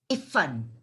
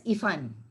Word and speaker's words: Iffan: he meets his friend Iffan, I-F-F-A-N, Iffan. And Balbhadra cannot pronounce Iffan, he pronounces it as Ifan. So I-F-A-N and I-F-F-A-N, right? Iffan and Iffan, that is Iffan.